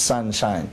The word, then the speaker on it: 三輝: would be sangki but my master changed the ki which means shine he changed it to the english pronunciation so it's sunshine so i'd be sanshi's